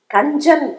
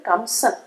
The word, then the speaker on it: கஞ்சன்: அப்படின்னு கண்ணனை அழைக்கிற பாசுரம் கஞ்சன் அப்படிங்கறது கம்சன் தமிழ்ல சில வார்த்தைகள் எல்லாம் என்ன ஆகும்னா தொல்காப்பிய விதிப்படி அந்த வடமொழி உச்சரிப்பிலிருந்து தமிழ் உச்சரிப்புக்கு மாறும் கம்சன் அப்படிங்கறது கஞ்சன்னு வரும் சிலப்பதிகாரத்தில் இளங்கோவடிகள் கூட கஞ்சன்